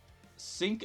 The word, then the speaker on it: Cinq: so you know uh we'll use the French pronunciation so it's sync South section five director